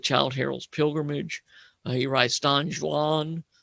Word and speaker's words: Don Juan: harold's pilgrimage he writes don juan you have to say it has two syllables john is don juan but johan because he wants two syllables for the sake of the rhythm uh he writes a